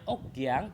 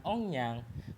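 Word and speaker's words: 억양: Kenapa ini dibacanya okyang bukan ongyang? Karena okyang itu satu kosakata yang artinya aksen.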